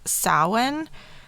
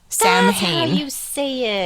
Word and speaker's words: Samhain: so they're linked to a celtic festival called samhain and it's spelled s-a-m-a samhain yeah and i actually did it this time